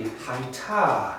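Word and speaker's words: הָיְתָה: And the earth, this next word is just going to be haita. She was. Interesting. She. Hai, H-A-Y. The T-A follows that, and the H is silent at the end.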